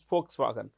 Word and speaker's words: Volkswagen: second place would be folks swagen how do we pronounce that folks remember this it's written folk like this it's written with a V but it's pronounced with an F so it's folks wagon folks means people wagon